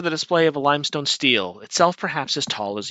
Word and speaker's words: stele: Stele? Let's see what Merriam-Webster has to say. Steel. Steely. Steel or steely? Interesting. Okay. Okay, the platform has been raised for the display of a limestone stele, itself perhaps as tall as you are.